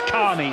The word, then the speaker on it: Kearney: Brett Carney, there he is. It's spelt Kearney, as like Stephen Kearney, but the former Cronulla man tells us he wants to be known as Carney. So Carney it will be.